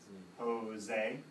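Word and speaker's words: José: His name starts with a J, right? Which, what's the J sound in English? Ja, right? Ja. But in Spanish, this is said like an H. So here, we write the letter of the sound, which is ha. H-O, and then this S sounds like a Z. Jose.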